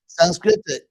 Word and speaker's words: Sanskrita: Sanskrita is from the same root.